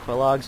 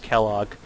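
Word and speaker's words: Quelaag: Quelog's domain. I might be mispronouncing that. It could be just Kellogg. No. You don't pronounce the U.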